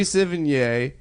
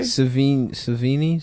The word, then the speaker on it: Sevigny: Savini? How Yeah. do you say it? Chloe Chloe Savini. No, Yeah, it's No, it's Sevigny.